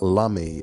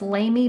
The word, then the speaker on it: Lamy: these particular pens, and I always thought it was pronounced Lamy, but today we're gonna go with Lamy because that is how Neil Gaiman pronounced it.